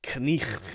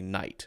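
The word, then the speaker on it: knight: Nobody says knicht. Now we just say night, right?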